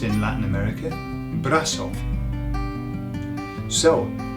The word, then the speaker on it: brazo: Brazo. Okay. Pronounced in Latin America, brazo.